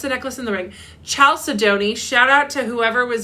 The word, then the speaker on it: chalcedony: Chalcedony. Shout out to whoever was in my Chalcedony, but it's pronounced, it's Chalcedony, I think.